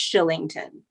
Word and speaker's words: Kylington: i n g t o n but it's pronounced shillington okay but we're like the weirdest thing since